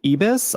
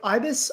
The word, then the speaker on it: ibis: I looked at uh I was trying to pronounce it is it ebus Ibis ibus oh I'm so Ibis are their big they're the birds that are